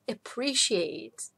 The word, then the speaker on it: appreciate: Да, то есть признавать достоинства, appreciate, осознавать, что есть какие-то хорошие качества. Что в этом глаголе нам важно? То, что ударение падает на второй слог.